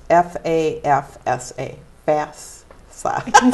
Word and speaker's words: FAFSA: It's FAFSA, FAFSA.